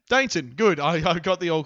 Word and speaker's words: Dainton: Is that how it's pronounced? Dainton.